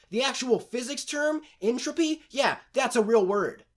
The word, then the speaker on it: Entropy: somebody up on the pronunciation of the name entropy which I might add is spelled t-r-o-p-y how the hell did they mess this up in Trophy isn't even a real word the actual physics term